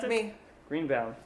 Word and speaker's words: Greenbaum: Yep, How do you pronounce that's it? me. Greenbaum.